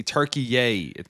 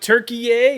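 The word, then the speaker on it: Türkiye: Say Turkey yay. Looks like Turkey yay is back on the menu, boys. They They changed the pronunciation, but can't avoid the association.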